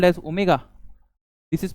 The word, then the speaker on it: omega: This is this is called as omega. This is pronounced as omega which is constant.